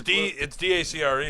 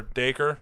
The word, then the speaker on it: Dacre: That's Dacker, by the way. I believe is how you say his name. Fuck Dak- off, really? Yeah. What? It's Dacre. Is it really? Damn. It's like Dacker or Dacre.